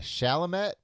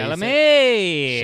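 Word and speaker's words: Chalamet: Uh Timothy uh Shalomat. Is that it? Shalame. Shalame.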